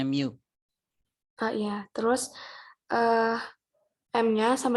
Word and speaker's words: mu: iya Bukan mu, mu. Oh ya mu. MYU dibacanya mu.